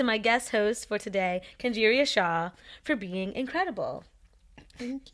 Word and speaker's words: Kenjeriah: Kenjeriah? No, you pronounced it right. Okay, because I thought I said Kenjeriah.